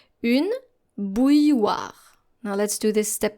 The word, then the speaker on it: bouilloire: And once again, we encounter a double L here. So there should be a silent L somewhere in this word. And I'm going to spell it right away. B-O-U-I-L-L-O-I-R-E.